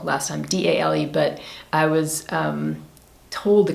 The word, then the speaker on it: Dale: So it's Dale, I'm pretty sure I'm doing, because she said it's like the D-A like dark and L-E like less, like Dale.